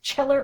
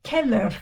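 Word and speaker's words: Cheller: Now that's not pronounced chiller or schiller. C in Italian is C like K. So C H E L L E R in Italian is Keller Keller, however they would say it with the accent.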